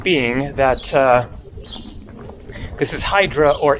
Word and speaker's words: Hydra: this is Hydra or idra but I'm just going to go with the English pronunciation for the sake of consistency and just clarifying that that is the way that it is pronounced in English and it is just